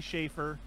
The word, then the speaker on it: Safer: And there's no H in it. It's spelled Safer, but he says Schaefer.